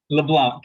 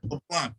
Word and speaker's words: LeBlanc: His name is, correct me if I'm saying it wrong, Jesse LeBlanc. LeBlanc. Yep, that's it. LeBlanc.